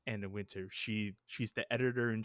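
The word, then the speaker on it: Anna Wintour: You know, I'm a stickler for pronunciation. is Anna Winter is how it's pronounced but it's spelled like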